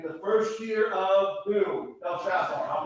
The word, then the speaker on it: Belshazzar: Belshazzar. I'll pronounce it for you. Belshazzar.